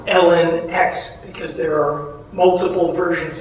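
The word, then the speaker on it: LNX: So my protagonist is E-L-E, pronounced Ellie, and the other version of her is L-N-X, pronounced Ellen X, because there are multiple versions of her that they try to create.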